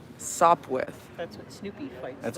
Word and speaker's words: Sopwith: with what's up okay i was trying to pronounce it without the uh p nope let's stop with sop with that's what snoopy fights